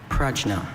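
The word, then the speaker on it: prajna: Your word is pragna. People are used to it now. Pragna.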